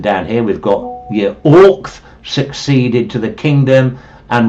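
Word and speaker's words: Oisc: Orch is probably his name. Some people pronounce it Ersk. Orch it seems to be.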